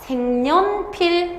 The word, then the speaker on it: 색연필: 색연필이 아니라 생년필, 그 다음 불려우, 식용유라고 해서 없었던 니은이 들어간다고.